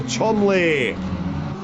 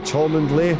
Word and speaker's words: Cholmondeley: Samuel Chomley. If your friends have stitched you up by telling me to pronounce it like that, my apologies, Samuel. But Cholmondeley, yeah, that does seem about right.